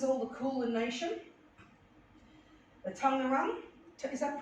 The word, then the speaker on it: Taungurung: The Tungurung, is that pronounced?